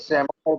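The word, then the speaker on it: psammophyte: सेमोफाइट नया है, सेमोफाइट लग रहा है नया। SAMO, सेमो, P silent, सेमोफाइट, PSAMO, सेमोफाइट, PSAMOPHYTE, सेमोफाइट, PSAMO, सेमो P silent, सेमोफाइट, सेमोफाइट।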